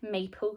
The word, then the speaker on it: maple: um would we say mapler what might we say you're right we would say maple like maple syrup we don't pronounce the e at the end maple thinking of that